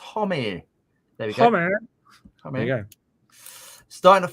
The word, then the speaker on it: Homme: everyone hi Sean Josh Josh Homme pronounced homie there we go starting